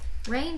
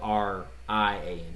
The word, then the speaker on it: Rian: No, it's not Rainn. It's It's spelled R-I-A-N. He just spelled it Rainn. It's Rian Johnson is the name of the guy.